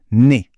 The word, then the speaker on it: nez: La prononciation est très simple, le nez. Le Z à la fin est totalement muet.